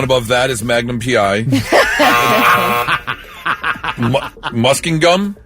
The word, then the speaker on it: Muskingum: Muskingum? Close. Muskingum. Yeah, Muskingum. Muskingum.